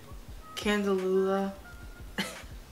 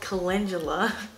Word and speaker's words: Calendula: This is the Candelula.